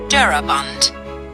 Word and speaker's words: Daraban: Draban, as it is vulgarly pronounced, ought, I believe, to be called Daraban, but it is not like the Smythes, whom the world insists on calling Smith.